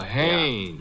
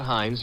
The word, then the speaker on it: Haynes: Oh, Haynes. Yeah, do you know him? Well, there's a fella named Hines used to fish out here. No, not Hines. Haynes.